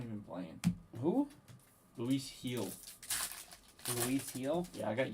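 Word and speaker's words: Gil: Luis Heel. Luis Heel? Yeah, I got yelled at so many times last year for pronouncing it wrong.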